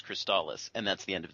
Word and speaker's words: Crystalis: it so that's because you knew it is cristallis and that's the end